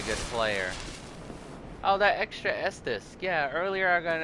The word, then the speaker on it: Estus: Whereas my older roommate in college pronounced Estus his Edius flask.